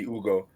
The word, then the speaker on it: Hugo: The H is silent.